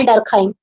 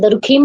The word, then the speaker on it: Durkheim: Next one देखिए, हिमाल डरखाइम, what ever you can pronounce आप प्रोनाउंस करिए, ठीक है। कुछ लोग दरखीम बोलते हैं, कुछ लोग डरखाइम बोलते हैं।